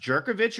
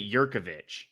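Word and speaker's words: Jurkovec: Is it actually pronounced Jerkovich or is it Yurkovich? It's actually kind of both ways. He says it both ways, depending on the situation.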